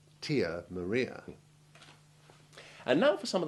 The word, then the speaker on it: Tia Maria: way to avoid mistakes first some true long i3 examples the relevant letter being in italics where there is more than one i in a word rio trio beer real pizzeria tanzania nicosia fiat and we mustn't forget that delicious liqueur tia maria and now for some